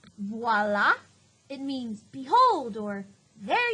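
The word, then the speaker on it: voilà: the little side note voila is french you pronounce it voila it means behold or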